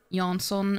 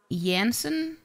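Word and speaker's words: Jansson: with your mom that the author toon was C pronounced yanson and not yansen because it's clearly a j not a why it's amazing that you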